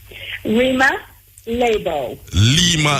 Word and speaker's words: Rima Leabo: We want to pronounce her name right, Dr. Riam Leabo. Are we pronouncing your name right, ma'am? Rima Leabo. Very, very well.